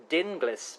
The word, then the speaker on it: Dinglis: Is it Dingles rhymes with shingles, or is it, as you've said, rightly so, I believe, Dinglis?